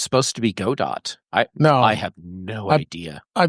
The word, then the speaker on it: Godot: And in our private chat, you did say it's pronounced Godot, right? Well, I don't know how they're pronouncing it for this, but I was always interpreting it as the Godot project, Godot. like waiting for Godot.